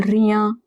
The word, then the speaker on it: rien: IEN is always at the end of a word, it is pronounced as ia. For example, rien, bien, bien.